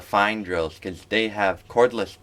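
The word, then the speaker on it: Fein: the orange German company that's spelled F-E-I-N. They look like really nice drills, and if you're looking for like a good carpentry or even metalworking drill, I would definitely say check out the fine drills, because they have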